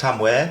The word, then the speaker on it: 참외: If you pronounce it quickly, it's Yeah. 왜. O E. is 왜. Oh yeah, the combined vowel is 왜. Yeah. So that's 참외.